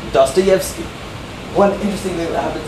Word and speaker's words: Dostoevsky: Russian is that sometimes when you have a vowel combination like the O and the E, instead of being like an O or a E, it's a Ye. So Dostoevsky, not just Dostoevsky.